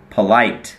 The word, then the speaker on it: polite: ว่า สุภาพ นะ ครับ polite ไม่ ได้ ออก เสียง ว่า โ นะ ครับ ออก เสียง เผอะ ฮะ เหมือน สระ เออะ ครับ polite She is always polite